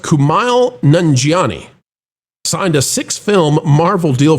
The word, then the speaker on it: Kumail Nanjiani: I believe it's pronounced Kumail Nanjiani.